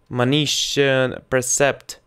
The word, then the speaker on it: precept: Yes, it's my how to say it, наставление in the Russian is it's instruction, admonition, precept, Precept. Oh, more. Precept. Precept. It's my precept for you. Yes, like receipt.